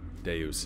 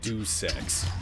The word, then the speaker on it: Deus: Deus is correct, yeah. I guess the way I'm remembering it is that people were mispronouncing it as like something like do sex, which was just really weird.